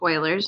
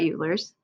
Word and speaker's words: Euler: about Oilers method um this is pronounced Oilers not eulers and so just a